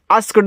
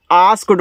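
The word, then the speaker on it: asked: आस्क्ड मत पढ़ना। आस्क्ड पढ़ना।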